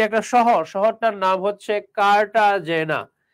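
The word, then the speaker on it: Cartagena: শহর শহরটার নাম হচ্ছে কাটাজেনা তো এই কাটাজে জেনারে স্প্যানিশ ভাষায় কাটা হেনা উচ্চারণ করে কেউ কেউ কাটা গেনা উচ্চারণ করে কেউ কেউ কাটাজে জেনা উচ্চারণ করে আবার প্রশ্নকর্তা বইয়ে লিখলো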